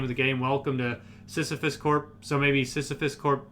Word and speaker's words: Sysifus: specifically um yeah so sisyphus uh is a misspelling of the greek myth uh sisyphus or it's it's pronounced the same but it's spelled a little different okay um you might